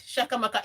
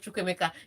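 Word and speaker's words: Chukwuemeka: Because when they call his name, you think they are saying, yes, Shakamaka, yes, instead of Chukwemeka.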